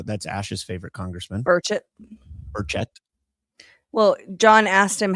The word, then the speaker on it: Burchett: So the accent on the second syllable? Yes.